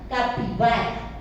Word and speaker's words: capibara: La mayoría de las palabras terminan en vocal acentuada. Entonces, ¿esto cómo se pronuncia? Capibara.